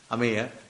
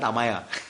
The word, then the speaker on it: Ameya: Ameya. I told Vanmali Prabhu, Prabhuji, his name is not Amaya, it is Ameya.